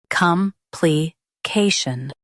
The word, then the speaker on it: complication: Complication. Stress the K syllable and keep shun light.